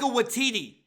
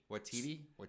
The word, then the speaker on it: Waititi: Taika Waititi. Watiti?